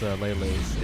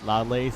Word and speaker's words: Lele's: Oh, and I just remembered how to pronounce Lele's. It's Lele's. It's not Lale's. It's not Lailas. Like, we're both wrong.